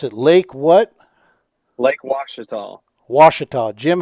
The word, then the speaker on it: Ouachita: Appreciate y'all having me on tonight and ready to give a little preview for Lake Ouachita and talk about what's going on down there.